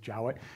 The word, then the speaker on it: Jowett: Jowett, I guess it looks like Jowett, but it's Jowett. Apparently, it's pronounced Jowett.